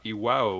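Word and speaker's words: Iwao: person named kazumasa uh IW which is i w AO yeah that's I believe that's the right pronunciation I I and uh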